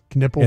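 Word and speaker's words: Knueppel: I got to learn how to pronounce his name right? Knipple.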